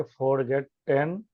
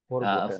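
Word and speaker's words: forgotten: आई हैड फॉरगेटन यू। फॉरगॉटन। फॉरगेटन। फॉर देखो, यस आई हैड फॉरगॉटन यू। ठीक है, और हम लोग इसे सही प्रोनाउंसिएशन तो इसकी होती है फॉरगॉटन।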